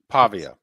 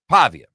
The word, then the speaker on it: Pavia: Pavia. Pavia.